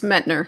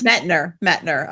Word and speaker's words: Mettner: Am I pronouncing that right? It's Mettner, yes. Mettner.